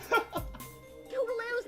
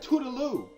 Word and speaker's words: Scootaloo: Scootaloo's not a thief, Twi. You gotta Wait. believe me. You gotta help her. Promise. Wait, hold on. She said her name wrong. She said Toodaloo. Her name is Scootaloo.